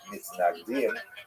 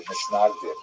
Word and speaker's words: Mitnagdim: He is the acknowledged head of the movement known as the Mitnagdim, or the Misnagdim, as it would be pronounced in Ashkenazi pronunciation.